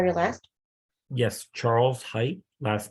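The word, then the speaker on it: Heydt: Height.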